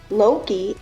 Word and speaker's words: Loki: His wife we call Freya, but it is actually pronounced Freya. Loki is correctly pronounced Loki.